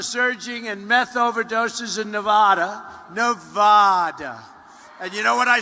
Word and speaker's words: Nevada: I said when I came out here, I said, nobody says it the other way. It has to be Nevada, right?